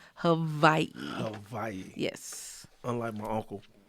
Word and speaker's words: Hawaii: very particular with pronunciation it's not Hawaii Havi Hai yes unlike my